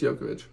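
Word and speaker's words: Djokovic: Serena Williams oh was it was it uh yovic yovic or dravic I I always forgot to say his name it's it's jokovic noov yovic really oh man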